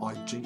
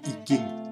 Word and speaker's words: I Ching: The second book is the I Ching or I Ching. I Ching, I think, is a good pronunciation for you.